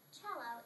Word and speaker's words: cello: The cello comes from the Italian language, so it is pronounced cello, even though it is spelled C-E-L-L-O, which you pronounce cello.